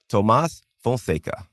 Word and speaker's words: Tomás Fonseca: Let's welcome to the show, Tomas Fonka, John. And great pronunciation, by the way.